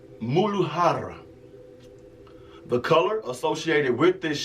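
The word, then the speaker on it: Muladhara: system the root chakra the Sanskrit word is pronounced moodle Hara the color associated with this chakra is going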